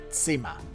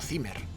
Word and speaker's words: Zimmer: bien tema significa habitación y se pronuncia como has oído cima no zimmer ramón campayo propone en